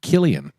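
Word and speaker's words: Cillian: as well Jim's in the chat green it's pronounced Killian klian there you go kilan Murphy Killian Murphy I think San sounds better so we're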